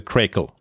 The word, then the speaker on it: Craycle: It's a correct pronunciation is the Craycle.